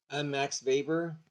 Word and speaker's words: Weber: Max Weber, the W is pronounced with it as a B.